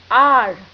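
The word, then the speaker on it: hour: आर, यहां H silent है और साउंड आ रही है वावल की अ, इसीलिए एन आर।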